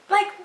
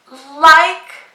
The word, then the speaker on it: like: So here the E is silent and the I is long.